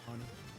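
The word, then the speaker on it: Fani: She goes by the name of Fannie, even though it's F-A-N-I. She wants to pronounce Fannie.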